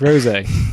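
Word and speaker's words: rosé: oh is that i i'm never pronounced rose in my life it's rosie other wine yeah i i missed the little thing above the e but yeah that makes more sense yeah um yeah and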